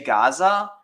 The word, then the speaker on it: Gaza: So it's, you say Gaza, but in Hebrew, as well as like if you actually look, it's, even though it's like Gaza, it's actually Aza, or, well, not like actually. I mean, it's both Gaza or Aza, but the point is it's spelled with a A, but it's pronounced Ga, and it's called a